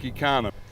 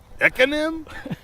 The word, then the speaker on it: Ekanem: people you can just pronounce it economy without the Y.